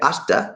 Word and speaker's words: hasta: Y'all know what hasta la vista means, right? Hasta la vista. Hasta. You don't pronounce the H.